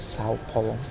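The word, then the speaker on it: São Paulo: How do you pronounce it? Sao Paulo.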